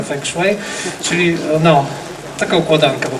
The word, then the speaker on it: feng shui: jak feng shui, prawda, w Polsce to się wymawiane feng shui, ale poprawnie się wymaga feng shui, czyli no, taka układanka po prostu.